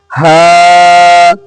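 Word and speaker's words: ح: হা হরফটি উচ্চারণ হয় কণ্ঠনালীর এই অংশ থেকে, যে অংশ সিনার সঙ্গে লাগানো।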